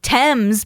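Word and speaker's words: Thames: Um or if you're from the UK, Tames because it's spelled the same way for the river Tames and but it's pronounced which is much more wellnown.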